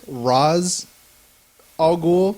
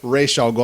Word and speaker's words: Ra's al Ghul: pissed me off about it is everyone says Ra's al Ghul. Well, that's because Christopher Nolan fucked everybody. Yeah, and then the actual man goes Ra's al Ghul.